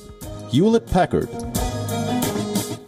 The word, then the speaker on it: Hewlett-Packard: the card hamlet Packard hewlett-packard the correct pronunciation is youlet packard bi do bi do bi do bi do